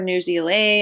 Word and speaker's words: Newsela: So Newsela or Newsela, I've heard it pronounced many different ways, is interactive.